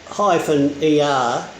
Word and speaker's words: KUR: KUR-World, pronounced KOO-ER, is designed to attract national